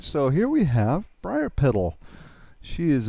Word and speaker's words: Briarpetal: All right, so here we have Briarpetal. She is a... How do you pronounce that?